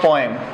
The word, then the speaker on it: poem: काफ़ी सारे जो लोग हैं इसको पोम भी प्रोनाउंस करते हैं, गलत नहीं है, वो लोग भी बिल्कुल ठीक प्रोनाउंस करते हैं पोम। लेकिन हमें क्या पढ़ना है वो ध्यान दीजिए।